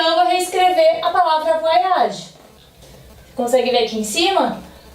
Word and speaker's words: voyage: E olha o nosso E o nosso E mudo aqui. A regrinha. Voyage. Terminei com o som do G, tá? Ele tá aqui pra me dizer, ó, pronuncie o som da última letra.